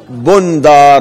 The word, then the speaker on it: بندار: بندار بضم الباء الموحدة، بو بن بعدها نون ساكنة ثم دال مهملة ثم ألف ثم راء مهملة، تنطق كيف تنطق؟ بندار.